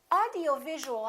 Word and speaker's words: audiovisual: which syllable is stressed in this case it's going to be right here audio visual audio visual how do we stress